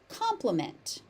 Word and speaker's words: compliment: Compliment. Compliment. The associated word with an I, compliment, it's pronounced exactly the same.